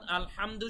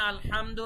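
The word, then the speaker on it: الحمد: অর্থ হচ্ছে সকল প্রশংসা কিন্তু আমরা যদি এখানে আলহামদু না বলে আলহামদু বলি নরমাল হা বলি বাংলার মত হ আলহামদু এভাবে যদি বলি আলহামদু না বলে গলার ভেতর থেকে না বলে যদি হামদু নরমাল হা বাংলা হ এর মতো বলি সেক্ষেত্রে অর্থটা মারাত্মক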